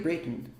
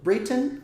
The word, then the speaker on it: Britain: a sigla, ou Great Britain. Existe uma pronúncia tanto Britain quanto Britain para essa palavra. Eu prefiro falar Britain, eu não gosto de colocar força assim, Britain, Britain, Britain.